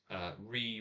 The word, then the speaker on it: Ruighe: Now I found out that the port finished Talisker, spelled Ruighe, is pronounced with only the R and the E. and multiple E's afterwards as re.